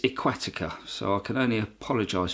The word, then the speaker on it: Aqvatika: mistake that you'll see where it pronounced the lake a k---forty cur that is not the correct way to pronounce a lake it's aquatic ax so I can only